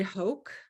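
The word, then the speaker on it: Hoch: lecture Mysteries so let me add that Ed Hoke is pronounced is spelled h-o-c-h um yes thank you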